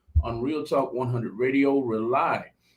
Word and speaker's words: Rauli: Rely is spelled Rauli.